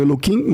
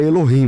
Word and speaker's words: Elohim: Vocês falam Eloquim, mas eu o termo é Elohim, né? Na verdade, é no É, é que no lugar do K é o H, né?